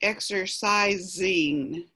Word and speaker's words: exercising: That last S, it's pronounced like a Z, exercising. Exercising. So it's exercise and exercising. So it's like this S is a Z.